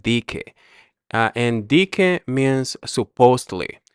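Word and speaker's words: dizque: And the reason why so the S is red on here is because sometimes we don't pronounce the letter S and it'll sound just like DK.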